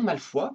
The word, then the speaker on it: Malfoy: Le nom Malfoy, prononcé Malfoy en anglais, vient du français.